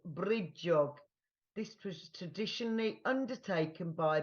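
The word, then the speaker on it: brídeóg: One way to bring the magic of Brigid into your homes at Imbolc is to make a bridiog, pronounced bridjog.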